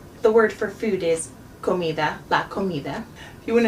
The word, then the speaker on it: comida: a little bit softer, but my tongue is still behind my teeth. It's not a hard D like in American English. So you wouldn't say comida, you would say comida. Comida. It's almost actually like a mix between a D and a TH.